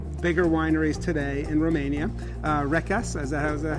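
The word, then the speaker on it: Recaș: Rekas, is that how I would pronounce that? Rekas. Rekas.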